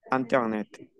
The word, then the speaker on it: Internet: Miren que aquí nuevamente IN se pronuncia an. Internet.